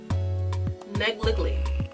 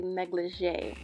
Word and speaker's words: negligee: Negligly. Bruh. So I actually looked it up later, and it's actually negligee.